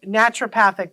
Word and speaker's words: naturopathic: Now, I've been saying naturopathic, but am I saying it wrong?